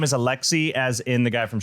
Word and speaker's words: Alexis: The S is silent in her name.